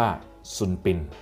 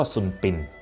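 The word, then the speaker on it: Sun Bin: ว่า ส่วน ปิ่น ครับ ภาษา อังกฤษ จะ เขียน ว่า s u n b i n นะ ครับ แต่ ว่า ออก เสียง ว่า ซุนปิน นะ ครับ เพราะ ว่า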